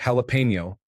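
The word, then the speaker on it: jalapeño: I grew to hate the way she insistently pronounced the word jalapeno. She pronounced the J as a J sound instead of an H sound and the N as pino.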